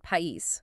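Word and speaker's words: país: Take the word pais, meaning country. You can hear that clear separation between the a and the i.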